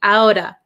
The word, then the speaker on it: out of: my parents talked me outa outa outa it the T becomes a flap T it is between two vowels so outa outa you'll hear a lot of Americans saying outa get me out of